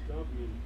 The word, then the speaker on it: Tubman: think of how you say her last name tman or do you remember do you know how to say her last name Todd who Harriet is it tman Tubman Tubman okay she felt like a nothing for